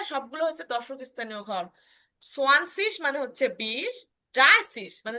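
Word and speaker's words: zwanzig: কিরকম, দশক স্থানীয় ঘরে দেখেন আমরা প্রথমটা একদমই চেঞ্জ, সোয়ানসিস, 20কে বলে হয় সোয়ানসিস, 20কে বলে সোয়ানসিস, সোয়ান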